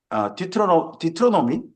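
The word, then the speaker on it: Deuteronomy: 근데 이걸 영어로 하면 Book of 디트로노미? 디튜로노미라고 그래야 됩니까? 디테로노미라고 그래야 됩니까? 이거 발음을 어떻게 듀트로노미.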